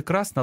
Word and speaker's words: красна: Тут наголос мав би бути красна, але з метою римування в пісні зміщується наголос. Й тисячі інших дійшли до